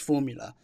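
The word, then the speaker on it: Fuvahmulah: an island with a long name that is pronounced Formula.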